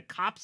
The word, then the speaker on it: copse: It comes from Coppice. Goddamn Latin. Yeah, it's just cops.